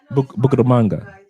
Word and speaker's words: Bucaramanga: Bucaramanga. Did I get it right? Bucaramanga.